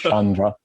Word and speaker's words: Sciandra: Like I gave up on trying to get anyone who's not Italian to pronounce it. Don't worry. It's Sciandra.